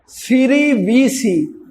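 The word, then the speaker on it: cerevisiae: अब याद करने का तरीका देखो, सैक्रोमाइसीस सिरिविसी। और सिरी को तो जानते ना, सिरी देवी वो इंडियन थी, वो तो बहुत हो गई बेचारी। सिरिविसी, सैक्रोमाइसीस सिरिविसी। लेकिन प्रोनाउंसिएशन सुनो, क्या है? Saccharomyces सेरेविसी।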